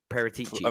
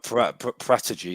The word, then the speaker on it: Paratici: How do you pronounce his name? Paratici. Paratici. That's what I've heard. Paratici.